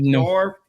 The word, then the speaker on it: Norfolk: I don't have the the draw from that part of the country, but apparently you don't say folk.